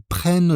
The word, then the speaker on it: prennent: Attention à son orthographe avec le double N et sa prononciation quand il est utilisé avec il ou elle pluriel. Ils prennent.